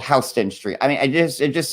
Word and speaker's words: Houston Street: would pronounce it um houston it's spelled like houston like in texas but it's called houston street i mean it is